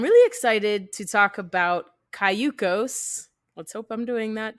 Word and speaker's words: Cayucos: I went through and I'm like, okay, I see that it's Spanish for canoe. So it's Cayucos.